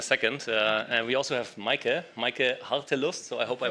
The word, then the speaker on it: Meike Hartelust: And we also have Meike Hartelust. So I hope I pronounced that correctly.